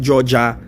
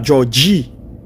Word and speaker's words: Georgie: Parce que yo prononce yo dit Georgia, mais c'est la Georgie.